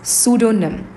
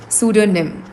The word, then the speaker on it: pseudonym: That's pseudonym. That's pseudonym. Pseudonym. The P is silent over here.